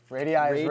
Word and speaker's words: radii: Radii is plural. Radii? Yeah. Three syllables.